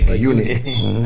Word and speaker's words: eunuch: The topic that we're on, being how do you say this word again? Eunuch. I keep thinking Enoch.